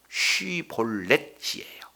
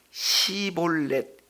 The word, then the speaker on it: 쉬볼렛: 이거의 히브리어로 이 내용을 보면은 쉬볼렛이에요. 쉬볼렛. 그런데 이 내용을 시볼렛, 그러니까 쉬하고 시하고 이게 지금 발음이 안 되는 거예요.